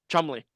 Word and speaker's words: Cholmondeley: I'm seeing that because I'm in the footnotes of one of the things, and it says Jumanji is pronounced Chumley.